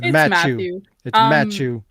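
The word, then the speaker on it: Mathieu: french guy look i i googled it and i looked up the pronunciation and it was that way it's procrastination it's matu most of these things are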